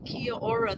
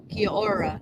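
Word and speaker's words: Kia ora: recall yes I write Kia aura that way it's two plus two syllables but it's pronounced as one word confusing I yeah well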